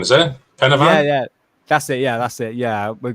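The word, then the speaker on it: Pen y Fan: Oh my god, am I pronouncing Penavan, is it? Penavan?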